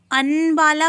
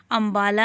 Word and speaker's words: अंबाला: मां की अंबाला व क्या आप इसे अनुबाला पढ़ सकते हैं अन वाला से आपको कुछ समझ का या नहीं ना क्योंकि यह अंबाला अंबाला ही इस का सही उच्चारण है अब हम अंक की